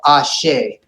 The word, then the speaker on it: Ashi: beautiful love ashay now be careful with olives we don't say hey we just pronounced the vowel ashay ashays there you go